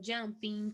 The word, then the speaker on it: jumping: Então é dancing, jumping, tem o som do N no final, tá? Então, singing, swimming, jumping, dancing, a gente não pronuncia o G, tá bom? Não é dancing, jumping. Não. É como se o G não existisse ali.